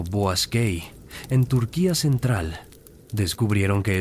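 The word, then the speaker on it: Boğazköy: En 1906, arqueólogos alemanes comenzaron excavaciones en Boaskei, pronunciado Boasquei, en Turquía central.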